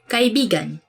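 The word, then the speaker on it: kaibigan: Chi begun meaning friend let me say something about this word because I you have to say it like this chi begun got it begun cuz i began means friend but when you twist it a bit and say it like this cut it begun gah he begun that's kind it's not really a natural way of saying it but it actually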